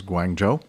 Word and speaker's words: Guangzhou: just, in my ear, tell me how to pronounce these things. Okay. So, here we go. Guangzhou is Guangzhou.